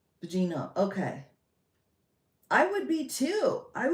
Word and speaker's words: Bongino: Oh, Dan Bogino? Is that not right? Right? Is that not? It's Bongino? How do you get Bongino out of that? Bongino.